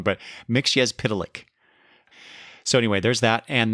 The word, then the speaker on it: Mxyzptlk: It is the Peter Pan book and record set BR-520 featuring 2 Superman tales, Mxyzptlk Up, Menace, and Alien Creatures.